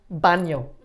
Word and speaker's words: baño: Baño. So it's that N, the Ñ. ñ.